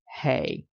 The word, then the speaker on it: ה: symbol that divine feminine symbol and it is pronounced hey you might see h-e-y or h-e-i with respect